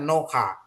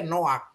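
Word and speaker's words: נֹחַ: Ini bacanya sebenarnya Noha, Noka. Tapi dibaca dia Noak. Gitu ya. Ini namanya stolen patah atau patah gnupa ya.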